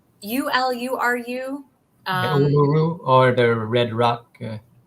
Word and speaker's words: Uluru: Uluru.